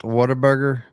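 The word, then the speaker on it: Whataburger: Plus, I know it's spelled Waterburger, but we all pronounce it waterburger.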